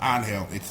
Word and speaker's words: Angel: name of the character, which is pronounced Angel. It's a Spanish thing, but you get it.